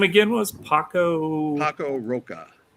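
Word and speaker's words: Paco Roca: Paco Roa P A C O R O C A E.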